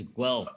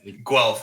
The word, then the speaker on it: Guelph: place that you're from not apple blue elf it's guelph apparently yeah it's guelph i just uh didn't